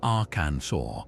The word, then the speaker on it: Arkansas: The French rendered the name as our cancers, following their own phonetic rules where that final S is silent. So the proper pronunciation Aransur is a direct linguistic